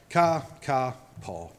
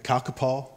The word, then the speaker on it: Kākāpō: So, Kākāpō, the Kākāpō.